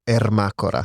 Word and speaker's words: Ermacora: It's Ermacora. Ermacora. See, that's not Ermacora.